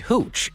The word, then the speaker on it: hooch: safe to drink homemade hooch and like a nice bottle of wine after a hard day's work, popped it open to share. Hooch rhymes with gu and I would never